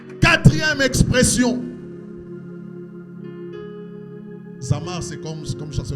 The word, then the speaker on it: Zamar: Zamar, c'est comme comme ça se prononce Z a m a r y 4e